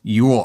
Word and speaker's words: Yule: My wife loves it, and I can ironically designate Christmas items as Yule items. Example, yesterday we put up our Yule tree, or the landscapers chopped up our Yule lights again.